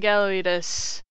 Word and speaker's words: Gallawious: Now, you pronounce his name as in gallery, weed, and us. Making Gallawious.